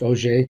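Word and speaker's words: Auger: also multiparticle processes like OJ a u g e r pronounced OJ electron generation and and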